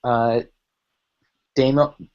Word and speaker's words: Damiel: His name is Damiel. Damiel? It's German, so you pronounce the second vowel.